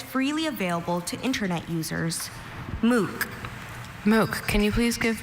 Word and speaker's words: MOOC: MOOC. MOOC, can you please give me the language of origin? This word is from an English phrase, MOOC. MOOC, are there any alternate pronunciations? I have just MOOC.